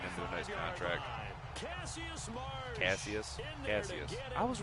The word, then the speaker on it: Cassius: Cassius Marsh, dude. Glad I re-signed him to a nice contract. Cassius.